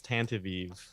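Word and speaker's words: Tantive IV: It is Tantavive.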